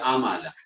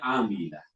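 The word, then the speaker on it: عَمِلَ: Jangan baca amalah. Bacanya amilah.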